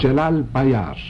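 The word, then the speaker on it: Celal Bayar: Jalal Bayar.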